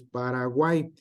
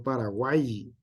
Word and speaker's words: Paraguay: Se pronuncia como I, no Paraguay.